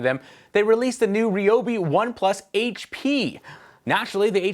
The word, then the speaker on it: Ryobi: yourself we'll put a link in the description ryobi pronounced that way because i said so held an